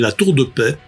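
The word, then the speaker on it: La Tour-de-Peilz: nom le plus improbable, qui s'appelle la Tour de Paix. Ça s'écrit P-E-I-L-Z, même l'orthographe est improbable.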